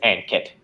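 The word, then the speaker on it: Ankit: pronunciations of my name unkit is how you pronounce it but i'm in canada i refer to as an kit and actually that's that's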